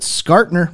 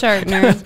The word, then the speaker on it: Schartner: I mean, unless you pronounce it Skartner, but no, I don't it's think... Schartner. No, it's Schartner.